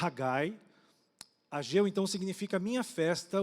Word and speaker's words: Haggai: Ageu o profeta Gil o nome no hebraico a pronunciar haggai Ageu Então significa minha